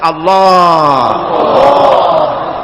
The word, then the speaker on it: আল্লাহ: আল্লাহ পাকের উচ্চারণটা হচ্ছে, আল্লাহ পাকের নাম হচ্ছে আল্লাহ। মুখটা একটু গোল হয়ে যাবে, বলেন আল্লাহ আল্লাহ আল্লাহ।